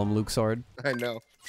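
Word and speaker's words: Luxord: too smart let's go luke sword is the right pronunciation in japanese though yes so who cares okay so we've known him forever as luxor yeah localization is a thing you can also call him luck saw though if you want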